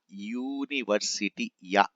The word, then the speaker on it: university: So in university, what is the initial sound? Initial sound is ya, ya, university, ya plus u.